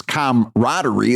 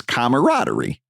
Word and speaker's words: camaraderie: It's It's comamaraderie is not It's camaraderie.